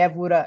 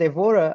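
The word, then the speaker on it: Évora: or not but anyway we say aora in Portuguese but aora is also well pronounced in English um evur is is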